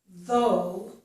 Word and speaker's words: though: In this word, though, we have the voiced TH sound, and that's this symbol.